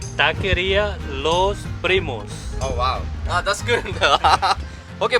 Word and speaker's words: Taqueria Los Primos: How do you pronounce the name? You say Taqueria Los Primos.